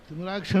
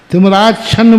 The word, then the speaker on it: तिमिराच्छन्न: अब पढ़ने उच्चारण तुम ठीक नहीं कर रहे। तिमिराच्छन्न बोलो, फिर अंधकार से युक्त। जी जी। तिमिरछाई और तिमिराच्छन, इसलिए बोलते समय सावधान। तिमिराक्ष, फिर गलत बोल रहा हूँ।